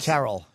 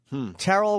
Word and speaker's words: Terrell: Terrell.